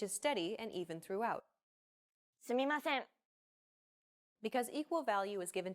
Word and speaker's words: すみません: すみません。 No character takes up more or less time than the other characters. Every character is valued equally and is pronounced evenly throughout. すみません。